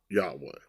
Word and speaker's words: Yahweh: I'm pronouncing it Yahweh. They really didn't have a pronunciation, but just to make it more simple for me.